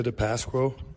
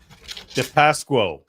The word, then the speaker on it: DePasquo: We need to listen to this name properly so everyone knows how to pronounce Luca's last name. Luca DePasquo, Livonia, Michigan. DePasquo. Remember that, DePasquo.